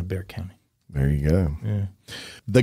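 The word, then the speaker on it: Bexar: Bear County. Bear County.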